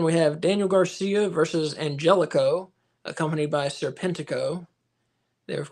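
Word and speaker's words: Angélico: stated that Angelico now wants his name pronounced Angelico he is no longer anhelo so in case you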